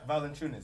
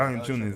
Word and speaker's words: Valanciunas: Yeah, Valanciunas. There you go. Valanciunas.